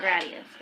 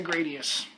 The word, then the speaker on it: Gradius: Gradius or Gradius? Are you just saying the name's funny? Gradius or Gradius? It's honestly, I've heard everyone pronounce that both ways. I always say Gradius. but I don't think anyone's